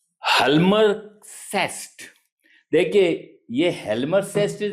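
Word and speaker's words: Hjalmar Schacht: इनका एक economic adviser था जिसका नाम है हलमर सेस्ट देखिए यह हेलमर सेस्ट इज़ the pronunciation but the spelling of this is एच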